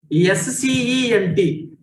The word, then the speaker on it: scent: Next, S-C-E-N-T. S-C-E-N-T, not S-E-A-N-T. C is a silent letter.